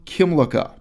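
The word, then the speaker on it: Kymlicka: Will Kimlicka. This is Kimlicka. Kimlicka is spelled with a K and a Y.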